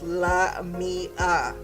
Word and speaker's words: Lamia: She was like, no, let me tell you how it's said, girl. It's Lamia. Don't be pronouncing my shit wrong.